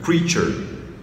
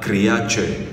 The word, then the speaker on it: creature: le creature of God donc ce mot se lit pas créat ou bien créature comme en français ou bien crature ok il y a des